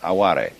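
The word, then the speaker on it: あわれ: aware it's spelled like our word aware only pronounced aware and this like yugen and sabii is difficult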